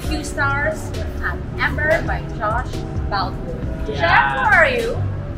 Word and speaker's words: Josh Boutwood: So, we just finished our late lunch here at Ember by Josh Boutwood.